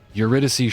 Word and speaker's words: Eurydice: Eurydice Shrine. That's how you pronounce that, by the way.